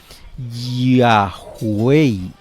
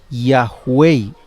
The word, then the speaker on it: Yahweh: Los eruditos modernos conjeturan que originalmente se pronunciaba Yahweh, aquí como lo puede leer, mire, Yahweh, y eso que yo lo digo con I, pero aquí está con J.